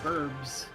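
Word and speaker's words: birb: It's bird, B-I-R, but I spell it B-I-R-B, burb.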